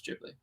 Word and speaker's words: Ghibli: It's Ghibli. Why is it Jib? Isn't it GH? It's Jib. That's a soft G.